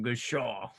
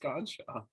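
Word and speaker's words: Godchaux: I thought it was like Goodshaw. It's just Godshaw.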